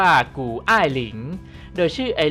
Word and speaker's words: 谷爱凌: ไอรีน ฝน กู้ หรือ ถ้า เป็น จีน แท้ ๆ จะ สะกด และ อ่าน ว่า กู อ้าย หลิง โดย ชื่อ ไอ รี